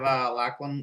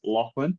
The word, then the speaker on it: Lachlan: I've never, I said it last time, I've never heard an American say my name like the way an Australian says it. It must just be like a difference in the accent, but it's always Lachlan, and Americans will always go Lachlan, Lachlan.